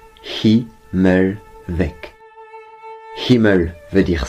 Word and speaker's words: Himmelweg: ça se prononce qui mêle avec qui me veut dire ciel avec ses